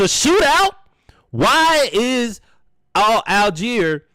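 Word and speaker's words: Allgeier: aler or all guy however you want to pronounce it it's aler as we know had three rushes for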